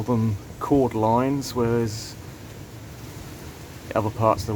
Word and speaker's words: cordyline: it called e line chord line um that is obviously harris spell but the way i've always said it's quarter line so i'll keep on saying it that way so these two side